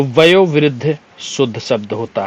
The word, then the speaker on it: वयोवृद्ध: की बात करें तो वयोवृद्ध शुद्ध शब्द होता है ठीक है एक सेकंड क्यों खिसक रहे हो भैया वयोवृद्ध शुद्ध शब्द होता है ना कि वैव विद्ध ठीक है य वाला